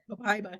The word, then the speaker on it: Copaiba: Copaiba.